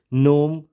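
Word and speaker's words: gnome: तो इसलिए हम इसको नोम पढ़ेंगे, ई साइलेंट एंड जी साइलेंट। ये सही प्रोनाउंसिएशन क्या होगी, नोम। इसको हम नोमे या ग्नोमे नहीं, ओनली नोम से प्रोनाउंस करेंगे।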